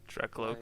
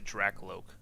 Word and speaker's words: Drakloak: You got the I say Drakloak. Like a cloak.